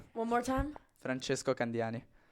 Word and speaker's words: Francesco Candiani: But wait, what is How do you pronounce it? Franchesco Kandani. That's exactly what I said. No, not for me. One more time. Franchesco Kandani.